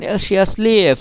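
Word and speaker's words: счастлив: এখানে দেখেন শিয়াসলিয়েভ, এই যে লাস্টের যে ভে, এই ভের উচ্চারণটা কিন্তু হচ্ছে না। ভের উচ্চারণ না হয়ে হচ্ছে হচ্ছে ফ, অর্থাৎ এফ এর উচ্চারণ। তো এই তারপরে শিয়াস, এখানে তে, টের উচ্চারণটা হচ্ছে না।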